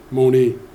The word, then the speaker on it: Monee: uh even the uh even our town Mooney as we know uh has is based on a misprononunciation of somebody named Marie but as I recall the uh her mother's Ottawa tribe couldn't pronounce the Rs. So that's how we have Mooney as we call it now.